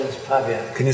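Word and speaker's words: Pawiak: Pavia. They call it Pavia. Can you spell it?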